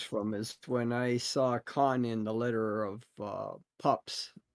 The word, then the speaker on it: Khan: How do you pronounce Khan? Do you pronounce it like William Shatner in Star Trek II, The Wrath of Khan?